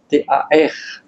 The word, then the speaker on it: Tarija: C'est la zone de Tarija, T-A-R-I-J-A. Les R et les J sont difficiles à prononcer.